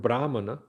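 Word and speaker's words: brāhmaṇa: As a matter of fact, the word brahana, the first syllable is elongated. That indicates in Sanskrit language that it is coming from just like um count.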